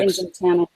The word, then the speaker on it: Nginx: Engine 10. Yeah, Engine 10 is what I always think was Nginx.